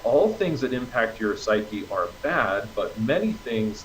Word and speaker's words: psyche: If it evokes an emotion, emotion is part of your psyche, part of your soul. The Greek word psyche is it's an ancient Greek word, but it's pronounced in English psyche, Psyche.